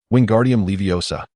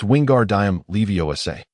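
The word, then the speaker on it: Wingardium Leviosa: Wingardium Leiosa, he shouted, flailing his arms like a windmill. You got it wrong, Hermione interjected bluntly. It's Wingard Diam Leiosa. You need to pronounce the gar clearly.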